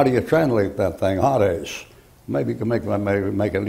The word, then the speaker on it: Hades: And as that's a long A in there, Hades, like that.